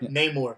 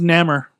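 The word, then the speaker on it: Namor: Neymore.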